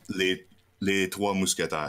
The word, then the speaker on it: Les Trois Mousquetaires: Yeah, and then the last brewery is the Three Musketeers, or what's the French pronunciation of Three Musketeers? Les Trois Mousquetaires.